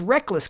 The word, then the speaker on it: Rekkles: your name then dude why do you got to change the pronunciation on us anyway seven years later is still in the back of my head I say rekkles when his name is reckless but Brock's is played